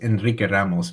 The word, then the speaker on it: Enrique Ramos: All right, let's move on to, I think I've got it down as Ultimate Redemption by Enrique Ramos. Or Enrique, well, he's from Puerto Rico, so it's Enrique Ramos, but yeah.